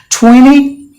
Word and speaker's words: twenty: combination anyway that is will NT combination the T is silent so that's the rule you have to remember some of the examples I've given twenty plenty counter interview interview